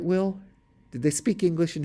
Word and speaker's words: Will: that I thought drowsily it was my name but pronounced in the English fashion not with the initial V to which I had grown accustomed since we had been speaking German well was I dead